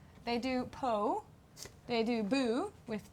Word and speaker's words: Bo: How do they spell it? They do Po. They do Boo with 2 O's.